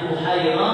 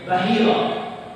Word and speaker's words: Buhaira: Nah, ketika sampai ke Buhaira, yang bernama pastor tersebut Buhaira, ada yang manggil apa bacanya Buhaira, ada yang namanya Bahira, ya Bahira, tapi yang umum itu Buhaira.